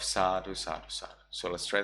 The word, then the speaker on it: Sadhu: And if you like that, you can say Tadhu, Tadhu, Tadhu, which is the Burmese pronunciation of Sadhu, Sadhu, Sadhu.